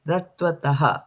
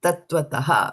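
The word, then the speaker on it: tattvataḥ: Tat vatataha. That's how you pronounce it. Okay. Um Jyoti. Yeah. Tat vatataha. Right? When you pronounce it you'll go faster when you're doing the full word so it appears as if you know it's all one. But this is how the breakdown is.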